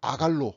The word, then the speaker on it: 아간: 그래서 안식일 안에서 우리가 아간은 아갈로 발음이 되고 후에 아골 골짜기 얘기가 되고 아골은 고통을 뜻해요.